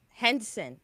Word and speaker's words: Henson: Henson. Okay. Rhymes with Jensen.